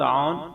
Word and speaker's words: عون: منتخب کیا جاتا ہے۔ اس کا تلفظ ہے عون، عین پر زبر، واو پر جزم اور نون ساکن، یعنی عین وا زبر عو، نون موقوف، عون۔ Spelling AUN۔ نسبت یہ